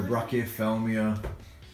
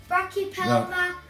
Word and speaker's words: Brachypelma: Yeah, it's a Carabina versicola and a Brachyophelmia alpilosum nicarigu.